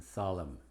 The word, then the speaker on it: solemn: Es muda después de la M al final. Palabras como autumn, column, condemn, damn, him, and solemn.